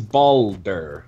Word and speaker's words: Balder: Boulder to Boulder Boulder its Boulder like a ball alder okay um wait and